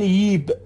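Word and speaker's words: جيب: مثلا جیب رو میگن ییب به این صورت دوستان، یا جا رو میگن یای به این صورت، یای آمدن.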